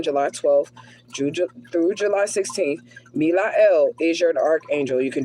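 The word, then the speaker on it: Melahel: Okay, we have Milael, the archangel, God deflecting evil.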